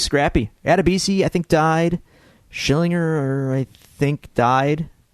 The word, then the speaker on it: Schillinger: Vern Schillinger?